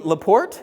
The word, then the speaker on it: LaPorte: I live it has a place in LaPorte that's how you pronounce it yeah just down the